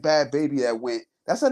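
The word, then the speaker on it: Bhad Bhabie: she wasn't like to me she wasn't like bad baby that went that's her name that's how you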